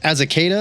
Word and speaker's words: Azaceta: It's written by Rick Remender with art by Paul Azaceta. I'm going to go with a hard C on that one.